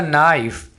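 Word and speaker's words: knife: करेंगे that is अ नाइफ अब यहां पर आपने के को साइलेंट रखना है इसको क नाइफ नहीं बोलना दैट इज नाइफ वो चाकू है अब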